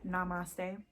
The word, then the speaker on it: Namaste: That one is pronounced Namaste.